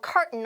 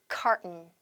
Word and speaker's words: carton: A carton of milk. 네, 지금 화면에서 보시는 것처럼 요런 통에 담긴 그런 우유를 얘기하는 건데요. 자, 발음, T 발음은 먹으면서 발음할게요. carton, carton, carton.